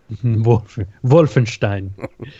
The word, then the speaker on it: Wolfenstein: He says, if you want to be really cool like me, pronounce it just right. More like Wolfenstein. Wolfenstein. And then he also says, Molson XXX mixed with Clamato juice.